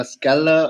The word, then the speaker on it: Skella: So is it a Skella, or is that how you pronounce it?